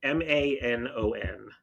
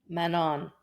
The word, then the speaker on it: Manon: it so like like m a n o n how would you pronounce that name Manon okay no no right or wrong but that that's how in my mind it was Manon but oh man by